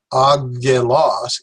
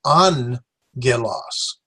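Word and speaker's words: ἄγγελος: This is not agelos, it's angelos. So this has an N sound to it, where this keeps the hard G sound.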